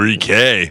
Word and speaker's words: Ricqui: By the way, her name is spelled Ricqui. Ooh, Ricky.